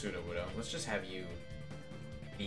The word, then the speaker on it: Sudowoodo: up at 5 o'clock this morning to it's pronounced sudowoodo let's just have you be here through order